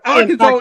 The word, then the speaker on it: Arkansas: Arkansas. Arkansas is the right pronunciation boy.